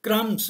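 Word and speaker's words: crumbs: और इसी तरह क्रम्स, क्रम्स क्या हैं, टुकड़े हैं, छोटे छोटे, इसमें बी साइलेंट है, क्रम आएगा, क्रम्स, वो small pieces of dry fruit है, या ग्लास के हैं, जो भी मतलब.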